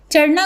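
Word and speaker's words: چڑھنا: चढ़ना गिरना और उठना चढ़ना को हम चुड़ना या चिड़ना नहीं पढ़ते चे को जबर के साथ ही प्रोनाउंस करते हैं इसी तरह गिरना को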